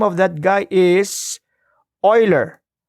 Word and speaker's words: Euler: The name of that guy is Euler. Leonhard Euler. That is how you pronounce that surname, Euler. And so Euler is somewhat a prodigy.